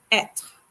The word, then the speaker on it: être: For this verb, which has the accent circumflex, we pronounce the E as E. So this verb is pronounced être.